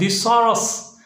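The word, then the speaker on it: thesaurus: अक्सर लोग इसे जो एस की एस है, अक्सर लोग एस जो है इसको जी पढ़ते हैं, तो जी पढ़ना बिल्कुल गलत है। इसकी जो सही प्रोनाउंसिएशन है वो है थिसॉरस।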